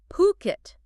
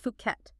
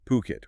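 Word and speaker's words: Phuket: And actually before we even jump in, let's nail that pronunciation because it's important, especially given Ocean Worldwide's base. It's Puket. P H U K E T, not Fuket. Exactly. Puket.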